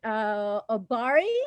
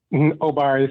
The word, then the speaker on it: Obari: I'll go with Obari. Is that how you say it? Dr. Cartman? Obari is fine, and that is right.